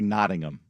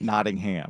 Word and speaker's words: Nottingham: First thing we got to get you to do is say Noddingham. Noddingham. Yeah. Noddingham Forest. Not Nottingham.